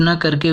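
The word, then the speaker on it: knock: इसी तरह किसी भी शब्द के प्रारंभ में के एन लेटर आता है उसे हम के एन से न पढ़ के केवल यन शब्द से, यन लेटर से प्रोनाउंसिएट करेंगे। जैसे नी, नोब, not, knife, no, नॉक।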